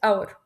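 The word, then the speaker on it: hour: المثال على كده هي كلمه اور بالرغم من انها بتبتدي بحرف الاتش لاني مش بنطقه لانه سايلنت وبقول اور وبالتالي بتاخد اداه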